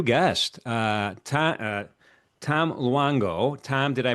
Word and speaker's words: Luongo: Uh Tom uh Tom Luango. Tom, did I pronounce that correctly? Yeah. Luango. Luango.